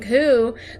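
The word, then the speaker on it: 九: The number 9 and the word pain also share the pronunciation ku, though not as unlucky as 4.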